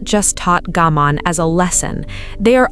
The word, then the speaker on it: gaman: Alongside Mimamoru sits another concept, gaman, pronounced gaman, written with 2 characters, one meaning to endure and one carrying the meaning of a self that persists.